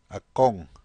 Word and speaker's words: akong: Notice the nung linker added to ako. Listen. Akong.